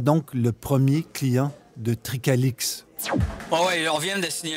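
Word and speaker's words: Tricalyx: C'est fini tout ça, plus maintenant, car le 29 octobre 2021, la société Tricalix, ça s'écrit T-R-I-C-A-L-Y-X, la société Tricalix, donc, devenait la première pépinière au Québec avec une licence de Santé Canada.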